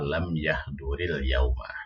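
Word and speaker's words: لم يحضر اليوم: Cuma ini bacanya kalau lam yahdur ya itu terpotong, kalau dibaca nyambung maka lam yahduril yauma ya, gitu.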